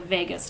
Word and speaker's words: vagus: your body called the vagus nerve it sounds like the city vegas but it's not spelled that way it's spelled v-a-g-u-s but if you forget